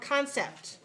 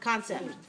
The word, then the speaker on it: concept: Concept has two syllables. Where's the stress? One. First syllable. All right, tell me. The first syllable, con. Is it clear or unclear? Clear. Yes. How about the second syllable? Sept. Sept. Clear vowel or unclear vowel? Clear.